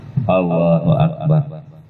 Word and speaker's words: Allahu Akbar: Allahu Akbar. Kurang makan Ketujuh, jangan diucapkan seperti ada. Ketujuh, jangan diucapkan seperti ada wau sesudah a. Allahu Akbar gitu.